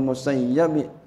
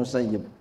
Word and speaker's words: Musayyib: diriwayatkan an Said IBN musayyabi boleh musayibi boleh ini guru saya Kiai mahfuz beliau bacanya musayyab guru saya Kiai Sarifuddin beliau bacanya musayyib Ya kalau saya perhatiin